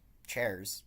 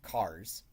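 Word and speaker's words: chars: the output to cars, or chairs, depending on I guess how you choose to pronounce this. It's short for characters, so I'll say cars.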